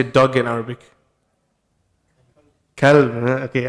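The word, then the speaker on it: كلب: Kalb.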